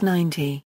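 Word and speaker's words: ninety: When carefully enunciated, they differ in which syllable is stressed, 19 versus 90. However, in dates such as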